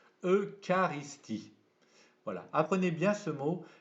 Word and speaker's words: eucharistie: comme ils s'écrient voyez ça s'écrit eucharistie mais attention ch ici se prononce que l'eucharistie voilà apprenez bien ce